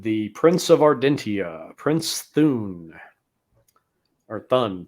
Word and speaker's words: Thun: prince of ardentia prince thune orton prince then is how they say his name interesting bit of trivia